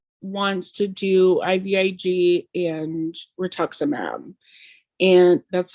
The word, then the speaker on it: rituximab: the bat she wants to do ivig and rituximab and that's how you pronounce it yeah you got it okay um